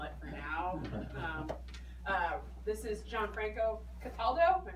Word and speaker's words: Gianfranco Cataldo: This is Gianfranco Cataldo, am I pronouncing it correctly?